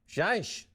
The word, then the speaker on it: Seiche: I'd like to thank our guest, Lina Seiche. That's spelled S-E-I-C-H-E.